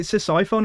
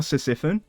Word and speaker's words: Ctesiphon: Is it Ctesiphon or Sisyphon? Ctesiphon.